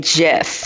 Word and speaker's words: GIF: is just a troll he knows that it's pronounced gift but the imager is one of those great